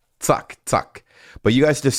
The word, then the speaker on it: zack: You would pronounce the Z as a T-S.